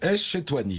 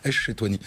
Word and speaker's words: Ech-Chetouani: Echetouani. Voilà, mais en fait, si on appuie sur Esh, c'est bon. Echetouani.